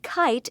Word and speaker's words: kite: to finish spelling kite remember the e at the end is silent it just tells us that the eye and kite sounds like this i touch each letter